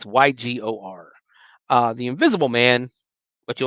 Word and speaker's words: Ygor: I'm going to assume it's Igor because it's spelled with a Y. It's Ygor.